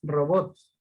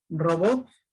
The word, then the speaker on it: robots: Por ejemplo, una excepción que debes recordar es el caso de la palabra robots. Robots, así en plural, termina en S.